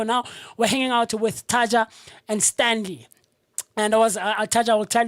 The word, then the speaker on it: Taddja: Yeah, usually when people see it, they have a problem spelling it. When they hear it, then they find out it's so easy. It's simply Taddja.